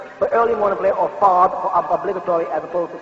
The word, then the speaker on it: Fard: They call him Professor Fahd, mispronouncing his name, which is Fard, which is a Turkish